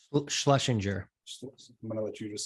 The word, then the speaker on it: Schlesinger: Schlesinger.